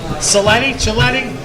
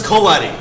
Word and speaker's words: Coletti: Now let's take it to the ring with little referee Chris Chiletti? It's Chris Coletti.